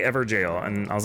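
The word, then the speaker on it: Evergaol: see this is pronounced ever jail I was like ever goal ever Gale I didn't I didn't know but apparently ever jail and I was like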